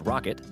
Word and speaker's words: rkt: Alternatives, RKT, usually pronounced Rocket, Kubernetes, and Marathon from Apache.